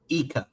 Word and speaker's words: Ika: I'm going to pronounce it how I pronounced it. Eeka.